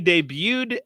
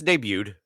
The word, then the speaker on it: debuted: The artwork originally debuted as, is it debuted? Debuted? No, it's debuted. That's dumb. The T is silent.